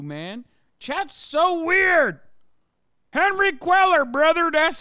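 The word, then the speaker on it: Cuellar: wrong with you man Chad's so weird Henry queller brother that's how you say it God damn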